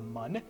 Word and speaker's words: Mun: which are of course the Moon alternative pronunciation includes the Mun and minimus arguably the